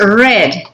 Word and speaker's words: read: in part that is red it has the same spelling but the pronunciation is different right she red a